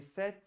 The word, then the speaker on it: cet: And it is pronounced as Set.